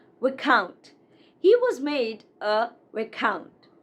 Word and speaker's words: Viscount: This is not Viscount. It's not Viscount, but Viscount. Viscount.